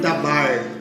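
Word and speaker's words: דבר: Aqui, o termo verbo é o mesmo termo usado na língua hebraica, na língua aramaica, que se pronuncia por dabar.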